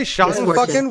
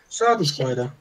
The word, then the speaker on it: Schadenfreude: Schadenfucken?